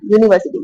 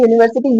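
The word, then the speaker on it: university: अब देखिए इसमें क्या आएगा, यूनिवर्सिटी बोल के देखिए आप, यूनिवर्सिटी ये भले ही वोवल लेटर लिखा हुआ है ना, यू लिखा है, लेकिन आप इसको बोल के देखेंगे, यूनिवर्सिटी यू से शुरू हो रहा है, और यू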